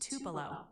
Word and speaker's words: Tupelo: It's pronounced tupelo.